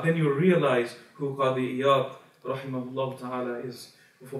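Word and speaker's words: قاضي عياض: In Arabic, we pronounce his name Qadi Iyad, but the book al-Shifa spreads throughout the world. In South Asia, because we pronounce the word as a za sound, then they refer to him as Qazi Iyaz.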